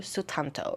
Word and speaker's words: Sutanto: Aunties by Jessie Q Sutanto. That is how I believe you pronounce her last name, because she is Indonesian and I am Indonesian as well.